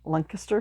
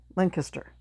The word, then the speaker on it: Lancaster: and Sound theaters in Lancaster, Pennsylvania. Now, the interesting thing is, when you're down in Pennsylvania, it's pronounced Lancaster. When you're here in New York, it's called Lancaster.